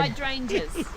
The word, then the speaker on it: hydrangea: Hydrangeas.